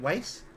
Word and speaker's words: Wise: Like, spelled like the word wise, like wisdom, but it's, like, pronounced like Weiss.